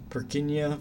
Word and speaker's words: Purkinje: common name purkinje fibers i think the original pronunciation is more like perkinia or something like that i don't speak was it czech i forgotten or polish but yeah whatever it is like most people say purkinje or some something like that